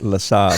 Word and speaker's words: LeSabre: Second car was a 67 LeSabre, and I threw two I believe it's pronounced La Sabre. LeSabre.